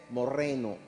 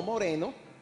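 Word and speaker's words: μωραίνω: o se pronunciaría moraino, pero en realidad en el griego la pronunciación correcta es morreno, ¿ok? Morreno, no moreno, sino morreno, ¿ok?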